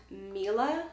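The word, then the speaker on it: milia: I also get something I believe is pronounced milla milla or milah I know it's mi la it's pretty much just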